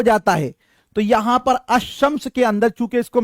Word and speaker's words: الشمس: اور لام آتے ہیں مگر اس وقت لام کا تلفظ نہیں ہوتا اور لام کے بعد کا حرف مشدد ہوتا. مشدد کا مطلب اس پر تشدید ڈال دیا جاتا ہے, جیسے الشمس. اب الشمس میں ساتھیوں ہم لام کو تو نہیں پڑھ رہے